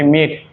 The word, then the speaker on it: mate: इसमें जो ई आया है ए इसमें भी साइलेंट है, हम सिर्फ इस ए का प्रोनाउंसिएशन कर रहे हैं।